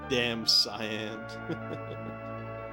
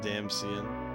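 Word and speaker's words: Damcyan: Yeah, damn cyan. I've been pronouncing it damsian.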